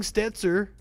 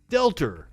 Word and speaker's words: Stelter: I was pronouncing the T, wasn't I? I was saying Stetzer. It's Stetzer, right? Did I get it right? I probably misspelled it. Remember, I don't watch cable. Brian. Stelter. My bad.